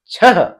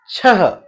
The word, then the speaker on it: छह: तो हमने यहां पर देखा, जैसे नमः छह, ऐसे छ नहीं होता, छह ऐसे होता है, अतः पुनः नमः, अंततः फलतः और संभवतः।